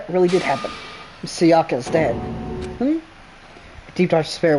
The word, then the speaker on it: Sayaka: Sayaku, Seimana, Sayaka, Sayoka. It's Sayaka.